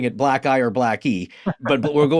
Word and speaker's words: blacki: And is it black eye or blackie? How do you say it? Blackie, yeah.